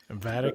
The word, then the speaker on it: Vedic: Beta. Is it how do you say it again? Beta. Vedic.